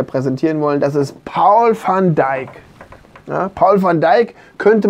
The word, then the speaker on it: Van Dijk: Paul van Dijk, ja, habe ich auch schon mal gehört. Mhm. Aber ich würde jetzt auch von Dijk sagen. Van Dijk. Ja. So holländisch ausgesprochen.